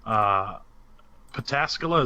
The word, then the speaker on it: Pataskala: So if you're in Columbus, man, hopefully you are seeking shelter because Pataskala, is that how you say it, Nick? Yes, that would be correct.